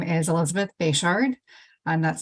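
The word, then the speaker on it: Bechard: next two speakers then will be Elizabeth uh bishard and Hazel Chandler whenever you're ready yeah thank you for the opportunity to testify my name is Elizabeth bashard and that's spelled b-e-c-h-a-r-d and I am a senior policy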